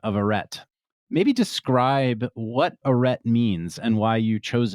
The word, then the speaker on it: Arête: So an aret as we spell it and as we pronounce it is a thin fin of rock that separates two valleys that once held glaciers.